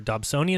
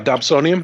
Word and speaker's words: Dobsonian: know somebody bought me a I don't remember Dobsonian is how you say it yeah Dobsonian Ryan mines of Schmidt Cassegrain right so somebody